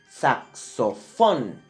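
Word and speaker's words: saxofón: in an N but where is the accent sucks so fun is in the last syllable so it breaks the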